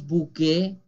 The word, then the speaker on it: bouquet: Decimos bouquet, la S no se pronuncia y he dicho que ET es E como juillet, como objet, como projet, bouquet.